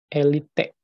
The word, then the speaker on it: elite: Maka, penggunanya pun berasal dari kalangan elit. Nah, ini ada kata elit. Harusnya bukan elit ya. Elite, bukan elit. Ejaan yang betul tuh.